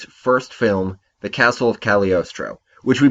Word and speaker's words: Cagliostro: film the castle of cagliostro which we pronounced incorrectly on the last episode because we're bad Italians the G is silent as always before we get into